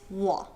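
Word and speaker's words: 我: That's why the Chinese word for me, or I, is wo. Wo. Not wo, but wo. Even though it's spelled W-O in pinyin. Wo, wo, wo, wo. Hear the difference?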